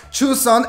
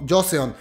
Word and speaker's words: Joseon: va dejar su instagram de cómo se pronuncia yo sé on porque yo lo pronunciaba como yo soy yo son y no se pronuncia sus son se me hizo muy